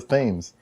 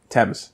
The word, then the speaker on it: Thames: used to deliver loads up and down the Thames that it aims right Thames Thames thank you I knew I had didn't